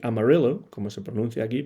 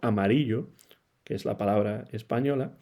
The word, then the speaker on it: Amarillo: en Tennessee incluso pero en Texas también y amarillo como se pronuncia aquí pero amarillo que es la palabra española Allí es donde nació gin estes en 1935